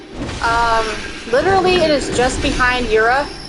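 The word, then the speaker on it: Djura: So I think it is Yura. I think it is either it's Jura or Yura. I think that is indeed how you say it.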